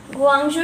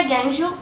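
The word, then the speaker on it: Guangzhou: गुआंगझू या ग्वांगझू अलग अलग प्रोनाउंसिएशन है।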